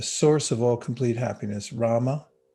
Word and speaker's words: rama: of all complete happiness rama it's two syllables r-a-m-a and in your mind